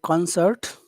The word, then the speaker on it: concert: concert after waiting the concert okay concert and and waiting waiting okay and when you say concert which syllable has all of the Power the con con concert